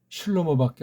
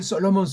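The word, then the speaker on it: שלמה: 다윗이 살아있을 때 임금은 넘겨준 슐로모밖에 없잖아요. 슐로모. 이걸 솔로몬 하는 건 이건 서양 아이들 식이고, 구약에 있는 발음을 정확히 아는 자 없을지라도 모음보라든가 읽기를 표시한 애들의 그것을 참고한다면 슐로모가 맞습니다.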